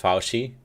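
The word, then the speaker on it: Fauci: just so you know it's pronounced faushi horse meat here in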